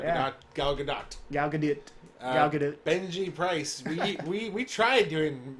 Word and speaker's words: Gal Gadot: But I've been watching the YouTube videos of her pronouncing her own name and people from her native country pronouncing her name. It's Gal Gadot.